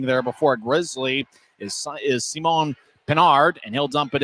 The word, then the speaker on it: Simon: Racing after it and getting there before a Grizzly is Simon Pinard, and he'll dump it in. His name is spelled S-I-M-O-N. It's tough to not say Simon.